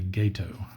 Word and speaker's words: Gato: Apparently I've been mispronouncing this from what I've read, even though gato is how you pronounce the Spanish word for cat. When used to refer to a submarine, it's apparently gato.